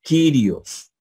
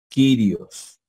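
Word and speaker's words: κύριος: aquí tenemos una palabra con catpa que es kirios quirios quirios bien a la yupsilon puede sonar como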